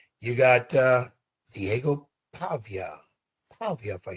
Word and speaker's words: Pavia: You got uh Diego Pavia, Pavia, if I say it right.